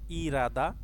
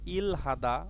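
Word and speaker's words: 일하다: এখানে উচ্চারণটা হবে ইরাদা। কারণ রিয়ল বাসিমের পরে যদি হিয়ত থাকে রিয়লটি হিয়তের জায়গায় গিয়ে উচ্চারিত হয়। তো এখানে ইল হাদা উচ্চারণ না করে আমরা উচ্চারণ করব ইরাদা।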